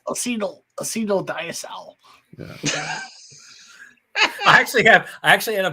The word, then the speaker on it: diacetyl: I get a distinct diacetyl tone, or is it diacetyl? Diacetyl. It's like the diabetes. You can actually. The funny thing is, you can actually pronounce it either way.